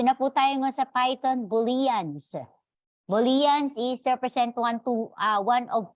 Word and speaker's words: Boolean: Sabi, it's not Boolean, it's Boolean. Medyo nakakatawa, no? Pero yun talaga yung pronunciation niya.